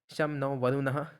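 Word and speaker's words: शं नो वरुणः: Okay, अब हम आते हैं, ये दोस्तों इंडियन नेवी का सिंबल है, शम नो वरुणः. The emblem of Indian navy contents the motto some नो वरुणः, pronounce as शाम नो वरुणः, which means B auspicious to अस ओ वरुणा.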